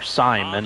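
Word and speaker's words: Simón: We had Alfredo Simon, or Simon if you want to pronounce it that way, and he was our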